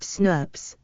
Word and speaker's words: snRNP: When these small RNAs are combined with the protein factors, they make RNA protein complexes called snRNPs, small nuclear ribonucleoproteins, pronounced SNRPs.